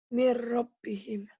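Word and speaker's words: مِنْ رَبِّهِمْ: Min rabbihim tuh. Nun matinya ketemu apa sayang? Roh. Ro. Karena nun mati ketemu ro, maka nun matinya jangan dibaca. Gimana bacanya? Mir rabbihim.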